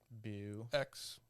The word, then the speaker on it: Beau: But that's BEAU Beau. something. Beaufort. No, you'd pronounce it Beau.